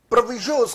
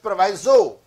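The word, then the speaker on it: proviso: इसे बहुत सारे लोग प्रोनाउंस करते हैं प्रोवाइजो, तो आप प्रोवाइजो प्रोनाउंस कर लीजिए या प्रोविजो प्रोनाउंस कर लीजिए, बात एक ही है, उनके अंदर फर्क नहीं है.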